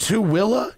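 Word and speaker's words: Tooele: presentation on the wiki how do you pronounce it to not to to willa really it's pronounced to willa get the [ __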